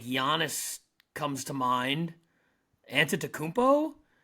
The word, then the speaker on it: Giannis: actually I'm GNA go Giannis Giannis is correct the alphabet is Giannis on tento I've never heard him called that before I just recently learned how to say his name properly um and that's why